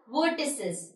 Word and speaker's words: vertices: लेकिन अगर मैं तीनों की बात करूँ तो हम उसे pronounce करते हैं as vertices.